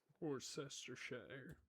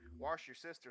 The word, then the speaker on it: Worcestershire: And he's like this, like, but you left letters off, and they get in a whole debacle about it. Worcestershire. Yeah, wash your sister sauce.